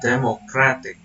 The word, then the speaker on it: democratic: The derived word is democratic. In here, the suffix "ik" saves the stress to the syllable before the suffix, causing a complete restructuring of stress placement.